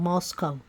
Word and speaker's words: Moscow: Idol college town of Moscow pronounced not like the Russian Capal but to rhyme with Costco the locals with no